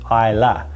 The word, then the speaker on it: Islay: A lot of its distilleries do really heavily peated smoky whiskies, and it's located on this little island called Islay, pronounced Islay.